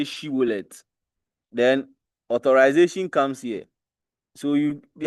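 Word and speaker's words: Shibboleth: So they'll say Sibolet, and they will say Shibolet.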